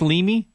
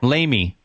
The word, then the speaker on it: Lamy: So, your last name, is it pronounced Leamy? It's Lamy.